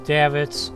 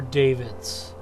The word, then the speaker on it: davits: far as david's go i've heard it pronounced as davitz or david's i think it can be either one i don't think people are real picky on that tank room have